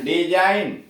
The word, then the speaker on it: design: जी silent, SIGN साइन चिन्ह, DESIGN डिजाइन डिजाइन, रचना आकार डिजाइन रचना या आकार।